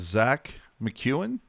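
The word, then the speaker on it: Zach MacEwen: I'm going to start this with Vancouver Canucks forward Zach McEwen. Am I pronouncing that correctly?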